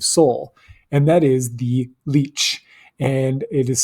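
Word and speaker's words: lic: And it is spelled L-I-C in Old English. We spell it this way to honor our herb-wise ancestors, but it is pronounced leech, like L-E-E-C-H. It is not connected to the blood-sucking leech. It's just they have the same word, the same sound.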